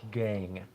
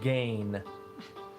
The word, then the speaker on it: Gang: He pronounced all of his words ending in like the NG sound. Ing, ang, ong. If it had like the NG, he wouldn't pronounce the G part. So for instance, Sasquatch Gang, he would have called the Sasquatch Gain.